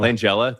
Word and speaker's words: Langella: And this was I'm going to save you right now. Langella. Langela. That's how you say it.